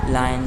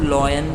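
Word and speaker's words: lion: Okay, like लायन, tiger, dear. इसे आप लॉयन पढ़ते हैं, वो गलत है। सही प्रोनाउंसिएशन क्या है इसका? इसका सही प्रोनाउंसिएशन है लायन।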